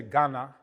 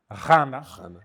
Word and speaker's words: Ghana: So when you say Ghana, Ghana isn't even the correct pronunciation. In languages, when you see a GH, it's supposed to be pronounced Ghana.